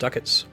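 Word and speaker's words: ducats: here paying attention oh it's actually supposed to be pronounced duckets very good duats do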